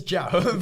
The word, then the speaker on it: Zhao: Zhao. It's Zhao, but it's fine. It's fine. Sorry, bro, no one can pronounce my last name correctly.